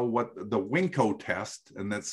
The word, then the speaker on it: Winko: that's how what the WinCo test and that's spelled just like it like it sounds like wink with an O on it you if if you